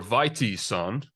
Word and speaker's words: Vitesson: Today, our very, very special guest is Vitesson, or Vitesson, depending on how you want to pronounce the Swedish names.